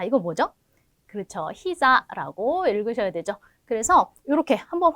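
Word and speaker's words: 膝: 히자라고 읽으셔야 되죠.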